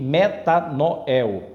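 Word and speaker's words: μετάνοια: y e o ômega Ok metá Noel é a pronúncia Então vamos fazer uma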